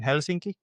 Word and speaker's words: Helsinki: I I grew up in in Helsinki. That's how it's pronounced.